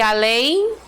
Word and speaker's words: além: aí qual é a classificação de além oxítona tá na oxítona nós temos a última sílaba acentuada mais forte né ó e aqui